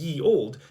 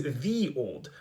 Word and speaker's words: ye olde: But that means that this was never actually pronounced as ye old. It was always the old. The letter Y stood in for the th sound.